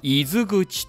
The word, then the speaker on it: 泉口: 珍しい名字ですが、伊豆口と読みます。